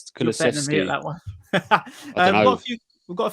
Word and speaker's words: Kulusevski: I can't pronounce his name. Kuleski? Kulusevski.